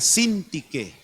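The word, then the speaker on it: Síntique: Díganle a Cíntique y a Ebodia, así se llamaban. Busquen ese versículo. A ver, busquenlo ahí. Ctique con acento en la I dice, les decía, les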